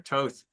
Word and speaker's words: Thoth: Thoth, or Thought is sometimes pronounced, or Toth.